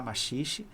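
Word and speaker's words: Maxixe: Planejamos 30 a cidade chamada Maxiche, né? Eh, realizamos uma semana de intervenção na cidade da Maxich, a gente chama cidade da Maxiche, lá eles pronunciam a si mesmo, a Maxicheixe, né?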